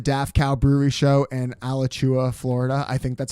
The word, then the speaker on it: Alachua: I have a bunch of random ones, but please come to the Daft Cow Brewery show in Alachua, Florida. I think that's how you say it. Alachua, yeah.